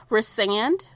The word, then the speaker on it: Rhysand: Rhysand.